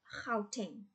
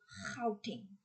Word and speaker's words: Gauteng: It's like it's a weird sound, and you have to be Afrikaans to actually, and even a bit of German and Dutch in Belgium, they are able to pronounce that sound.